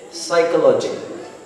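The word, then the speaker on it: psychology: जैसे हम कहते हैं कुछ वर्ड्स होते हैं जैसे साइकोलॉजी, P there is silent, pronunciation नहीं होता बट आपको समझना चाहिए।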